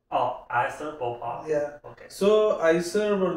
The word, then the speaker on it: IISER Bhopal: It's called IISER Bhopal. Oh, IISER Bhopal.